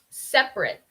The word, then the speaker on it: separate: Entonces vamos a poner más estrés en la primera sílaba de la palabra.